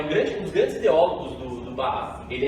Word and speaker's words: Ba'ath: de um partido, que eu não tenho ideia de como se pronuncia o nome, mas eu vou falar que é Ba'ath, mas é tipo Ba'ath, né? Ba-A-I, apóstrofe, A-T-H, né?